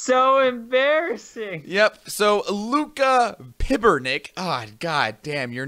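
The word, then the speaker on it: Pibernik: Last name is spelled P-I-B-R-N-I-K. So it's Luca Pibernick. Pibernick. Pibernick? Pibernick. Pibernick. Whatever. Either way. Pibernick. Don't care. Gotta roll the R.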